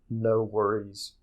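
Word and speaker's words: NxWorries: And they go by the collaboration name No Worries, where the O in No is replaced with an X.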